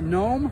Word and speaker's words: Gnome: And this is a G-N-O-M-E engine. I guess they call it Gnome, the G is silent.